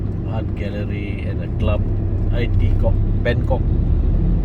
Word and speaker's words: Bangkok: And then after that, art gallery and a club, Bangkok, not Bangkok, Bangkok. Pronounce it properly, ah? Kok. Bangkok.